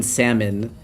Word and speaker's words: salmon: I used to pronounce the P in pterodactyl, the T in tsunami, and the L in salmon.